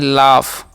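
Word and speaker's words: laugh: हम पढ़ते हैं राइट ओके यहां पर डब्लू साइलेंट होता है एल ए जीच है तो इसे पढ़ते हैं लाफ ओके अब हम इन सभी का मीनिंग आपको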